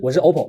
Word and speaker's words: OPPO: 我这发音啊，我是 OPPO 啊，我不是 Apple，好不好？